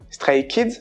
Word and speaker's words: Stray Kids: Stray Kids se dit en coréen Stray Kids. Stray Kids. Donc c'est exactement Stray Kids en anglais qui veut dire les enfants errants mais avec la prononciation coréenne.